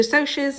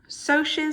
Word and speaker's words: Socs: The Socs and the Greasers. Socs stands for socials. That's why it's pronounced that way.